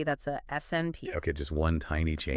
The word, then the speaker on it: SNP: And the workhorse for finding these ancient shared mistakes is something called a SNP, pronounced SNP.